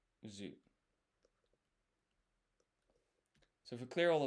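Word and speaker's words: づ: And this is, by the way, this is do pronounced zu.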